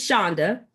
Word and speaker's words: Chaunda: My name is Chaunda. It rhymes with Honda.